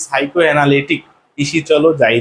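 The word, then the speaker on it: psychoanalytic: আর এরপরে দেখো, সাইকো অ্যানালিটিক মানে এই বানানটা মনে রাখবা হচ্ছে কেমন করে? পিসি চলো যাই রে, এর উচ্চারণ হচ্ছে কি? সাইকো অ্যানালিটিক।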